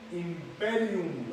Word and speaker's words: imperium: o investidas del poder público el famoso imperium imperium así se pronuncia Estatal ya nos referimos a todo ello